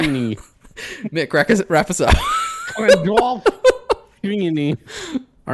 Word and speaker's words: Gandolfini: It's Gandalf. It's Gandalf what? Ini. It's what? Gandalf the Ini. Gandalf the Ini. Gandalf Ini. Yeah. Anyway, so. Gandalf. Okay. Ini. Mick, wrap us up. Gandalf Ini.